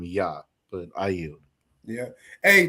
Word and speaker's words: Yah: to his name as Jah, right? And when you're dealing with ancient Paleo Hebrew, right, the letter J literally goes into the pronunciation of Y, which is why we call him Yah.